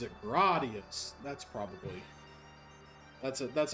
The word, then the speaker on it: Gradius: The opening menu for pronounces it for four pronounces it gradius.